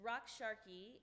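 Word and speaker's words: Raqs Sharqi: of the day will be two words it's rock Sharky and that is the Egyptian uh term for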